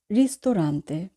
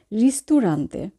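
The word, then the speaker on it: ristorante: ইল রিস্তোরান্তে। ইল রিস্তোরান্তে। বাংলা রেস্তোরাঁ, English রেস্টুরেন্ট। এখানে আমরা উচ্চারণের ক্ষেত্রে একটি বিষয়ে খেয়াল রাখবো। আমরা অনেকেই বলে থাকি রিস্তুরান্তে। রিস্তুরান্তে হবে না, রিস্তোরান্তে।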